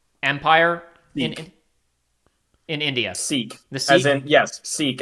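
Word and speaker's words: Sikh: ah yeah um uh Josh help me on pronunciation here the uh s i k Empire in in India seek the as in yes seek as in anom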